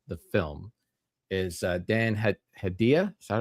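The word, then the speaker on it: Hedaya: actors in in the film is uh Dan Hadia. Is that how you say his name? Dan uh Hidea.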